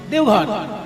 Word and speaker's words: দেওঘর: দেবগৃহ, সেখান থেকে বাংলা হিন্দিতে দেবঘর, তারপরে এখন বটা ওতে পরিণত হিন্দি উচ্চারণে দেওঘর হয়ে গেছে।